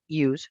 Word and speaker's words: use: va a la práctica, la S se pronuncia como si fuera una Z. Entonces, en este caso, el verbo utilizar, el verbo use, se utiliza como si fuera una Z.